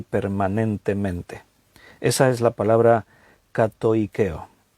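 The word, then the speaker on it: κατοικέω: La palabra habite, ahí en el griego, es una palabra griega que se pronuncia así, katoikeo.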